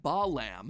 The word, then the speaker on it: Balaam: All three of them, Bael, Pie Man, and Ba lamb, are phonetic ways of pronouncing the names Bael, Paimon, and Balaam.